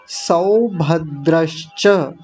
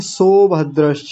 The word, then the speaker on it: सौभद्र: आगे देखिए सौभद्रस कुछ लोग तो जल्दबाजी में बोल के निकल जाते हैं। सोभद्रस सो नहीं 100 सौभद्रस महाबाहु महाबाहु यानी विसर्ग का भी उच्चारण करना है।